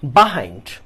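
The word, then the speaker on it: behind: করি আচ্ছা আসো এখন বাহাইন্ড আমরা এটার উচ্চারণ বিহাইন্ড করতে পারি বাহাইন্ড করতে পারি বোথ আর রাইট আচ্ছা বাহাইন্ড কখন যখন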